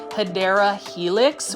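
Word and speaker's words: Hedera helix: or what you call the correct way to say it is hyera Helix which is the English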